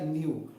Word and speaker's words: NULL: Se escreve NULL, N-U-L-L, mas se pronuncia New.